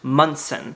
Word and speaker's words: Monson: slight Goosebumps right now my name is spelled m o n s o n but it is pronounced mson apparently it used to